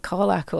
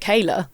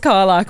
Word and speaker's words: Karlach: There was there was a a fan of of of Karlach on or a fan apparently pronouncing it Kayla. Kayla? kept saying Kayla.